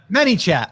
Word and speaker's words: ManyChat: ManyChat, like many people, yes.